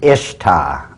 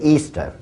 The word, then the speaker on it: Ishtar: Now a lot of people thinks it's pronounced Ishtar. I S H T A R. People check the Babylonian Tour. Once again, it is properly pronounced to this very day, Easter.